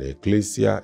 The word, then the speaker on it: ecclesia: And ecclesia is spelled E-double-K-L-E-S-I-A.